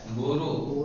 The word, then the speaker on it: برو: یہ سب یاد کرنے کی چیزیں نہیں کرو گے ہمیشہ۔ بیرو، بورو، تلفظ صحیح کرو، بیرو نہیں، کیا ہے؟ بورو، بورو، کیا آتا ہے؟